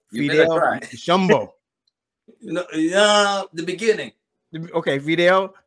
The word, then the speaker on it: Nshombo: You got to pronounce the N slightly. Okay, all right. All right, got you. Nshombo. I thought the N was silent, but it ain't that silent. It's pretty loud. Yep, it's in there, but slightly.